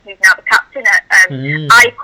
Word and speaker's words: AIK: now the captain at AIK, as it's pronounced, not AIK, as a spoke to some Swedish people.